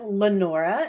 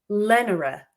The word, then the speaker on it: Lenora: Lenora, you got it. It's not Lenora. No, it is not. Lenora. I put my emphasis in the wrong syllable.